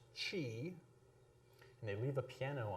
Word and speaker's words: qi: QI, which most people will pronounce chi.